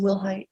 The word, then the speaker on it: Wilhite: Am I pronouncing your last name correctly? Yes, ma'am. Will Height.